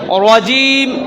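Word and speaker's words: رجيم: শাইত শাই শাইতানির রাজিম রজিম রজিম তাহলে আউজু বিল্লাহি মিনাশ শাইত শাইতানির রাজিম রাজিম জিম কি জিম তো আর জালের মতো না জিমটা চাপ দিয়ে উচ্চারণ করতে হয় রজিম তারপরে বিসমিল্লাহির বিসমিল্লাহির রহমান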